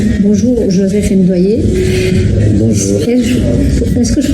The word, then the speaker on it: Ndwaniye: Alors, le plus facile, c'est comme si tu disais douanier, de la douane, le type de la douane, mais il y a un petit N devant qu'on coupe en deux.